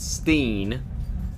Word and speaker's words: Stein: always been spelled stained we pronounce it Steen but it's always been spelled that way well this guy came